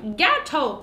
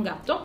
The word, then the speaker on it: Gato: Era troppo puccioso, l'abbiamo chiamato Gato, così si pronuncia Gato, non gatto, ed è la vita.